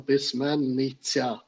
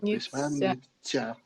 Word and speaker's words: письменниця: е да просто виправлення щоб зразу же вимовляти це правильно письменниця потрібно проговорювати письменниця Да Ну це як Поляниця це те саме так